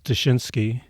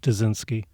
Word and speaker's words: Duszynski: I've got it down now is it is des zinski polish is that a Polish name it is Polish yes yeah the correct pronunciation is daninsky and sometimes people will say that and I